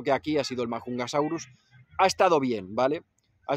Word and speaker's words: Majungasaurus: los majungasaurus que sí yo antes lo pronunciaba como majungasaurus en inglés He visto que en la serie lo pronuncian como majungasaurus y bueno lo puedo dejar así que me es más fácil de decir pues los majungasaurus han